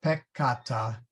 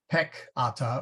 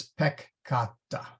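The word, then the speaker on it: peccata: a single consonant okay if there's a double letter then you split between the two letters so it's pronounced pecata not Peck Atta or p ikata or pecata it's pecata this also applies to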